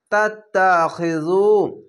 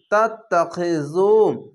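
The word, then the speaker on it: تتخذوا: তাত্তাখিযু, পেশের পাশে অসাকিন এক আলিফ টেনে পড়বেন এবং এই জাল উচ্চারণটি নরম করে করবেন। তা তা যাবার তাত, তা যাবার তা, তাত্তা, খজের খি, তাত্তাখি, জাল অপেশ জু, তাত্তাখিযু।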